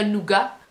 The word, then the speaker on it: Nougat: la presenza di Android Nougat. Come si dice Nougat en français? Parce que il français, quindi latino non si legge in fondo, quindi diventa Nougat.